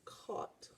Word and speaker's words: caught: all let's try again caught this word in english is spelled with a silent gh so our tricky part